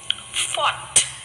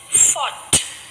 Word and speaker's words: fought: the word is let's read some more words fought fought so my dear children did you read